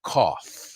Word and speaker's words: cough: Se pronuncia cough. Así de fácil. C-O-F, cough. Cough, esto es inglés, it's rough. Otra palabra que se pronuncia así.